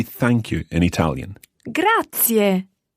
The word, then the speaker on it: grazie: thank you in italian grazie grazie and remember those three syllables there they're all run together quickly but there are three syllables grazier now that's a